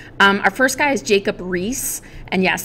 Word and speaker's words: Riis: Our first guy is Jacob Riis, and yes, that's how you say it with the two I's, Jacob Riis.